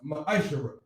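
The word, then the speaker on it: מעשר: through 10 means test in hebrew and is pronounced maisha 10 of every penny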